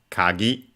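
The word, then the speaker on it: かぎ: Uh once we get there again word accented on the last syllable kagi kagi.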